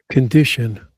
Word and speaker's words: condition: It's improvement stress on the second syllable. Condition stress on the second syllable.